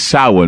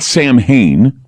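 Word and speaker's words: Samhain: how s m ha a i n is sa but it's pronounced sa not Sam Hayne although many people know what Sam Hayne is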